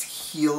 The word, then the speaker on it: H'el: call it like hell but it's not it's heal its it's healed because they have that stupid